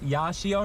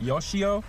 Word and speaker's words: Yashio: here to yashio factory it's yashio not yoshio so I keep pronouncing that wrong um but yeah I'm